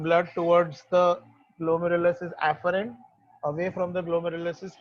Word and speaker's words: afferent: Afferent का pronunciation देखना, afferent.